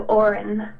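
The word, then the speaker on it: Odhrán: pronounce your name and I thought it was o or a an but he said it was o or n so Orin but again the DH kind of throws you off there as well so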